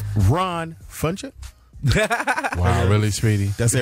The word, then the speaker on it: Ron Funches: Ron Funches. Wow, really, Speedy? That's it right? Ron Funches.